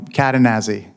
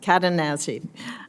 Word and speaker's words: Cadenazzi: I think the chairman mispronounced it. No, not at all. I've heard it all, ma'am. Um Katanazi. Katanazi.